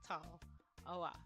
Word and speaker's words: Tallawah: So you have tall, oh wah. And my favorite part is you cannot pronounce the game name wrong. You just read it as you see it, and it still comes out pretty how it's supposed to sound.